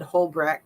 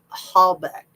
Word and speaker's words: Halbeck: Like Teresa, I said her name wrong. I said Hullbeck. I think it's Halbeck, right?